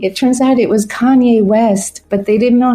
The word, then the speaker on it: Kanye: Canini. So finally I go downstairs and I'm like, who's Mr. Canini? It turns out it was Kanye West, but they didn't know how to pronounce Kanye's.